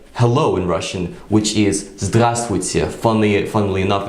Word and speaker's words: здравствуйте: So we can take a word like hello in Russian, which is здравствуйте. Funnily enough, it's quite a complicated word. So the word hello is здравствуйте.